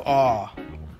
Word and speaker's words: awe: in the days of awe. Whoa. Awe. The E is silent.